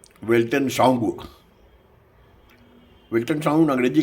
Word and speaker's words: Weltanschauung: इस चैनल का नाम है वेल्टन साउंड। वेल्टन साउंड अंग्रेजी का एक शब्द है। इसका स्पेलिंग है WELTANSCHAUUNG, यानी इसका मतलब है हिंदी में विश्व दृष्टि।